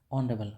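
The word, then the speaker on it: honorable: मैन ऑनरेबल मैन नॉट H silent इसमें ठीक है एच और ओ जब साथ में आ जाता है तो ये जो एच है [नाक से की जाने वाली आवाज़] वो साइलेंट हो जाता है और साउंड किसका बनता है ऑनरेबल और ओ हमारा क्या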